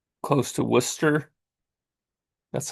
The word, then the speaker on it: Worcester: And it's close to Worcester. That's how they pronounce it up there.